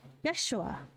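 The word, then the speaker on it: ישוע: And Joshua is the same word as Jesus, or pronounced in Hebrew, Yeshua, which is also 6 letters.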